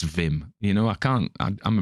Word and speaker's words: Wim: this vim hoff book he insists on calling him wim but it's dutch so it's vim you know i can't